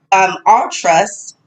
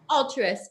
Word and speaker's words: Altruist: well, she is the head of education for All Trust. Did I pronounce that right, Britt? Altruist, yeah.